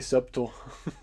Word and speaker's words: subtle: It's because the B is subtly silent, right? We could say subtle.